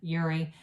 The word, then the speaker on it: Uri: You might have to go watch some Uri, or some people say Uri Geller. It's more of an American pronunciation, Uri.